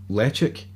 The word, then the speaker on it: Ledaig: It's le-ch-aig. I think it's actually how it's properly pronounced.